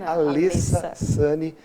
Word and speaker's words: Alessa Sanny: Ela me recomendou que eu caprichasse na pronúncia do seu nome, não é Alessa, é Alessa Sani, uma jovem advogada criminalista,